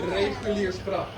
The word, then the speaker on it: Reguliersgracht: If you want to pronounce it in Dutch, it's called the Reguliersgracht.